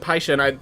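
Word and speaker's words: Pishon: I was constantly told it's Paishan, not Fishin, because I pronounced it Fishin, and then everyone was saying it was Paishan. And I'm pretty sure, yeah, they actually pronounce it Paishan in the commercial. Like, P-I-S-H-O-N. So it's Paishan, as far as I understand.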